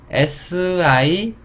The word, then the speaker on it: sink: 자, SINK 똑같아요. S 쌍쇼. I는 E. NK 또 NK네요. 그렇죠. NK로 끝나면 이 N을 이응으로 발음한다.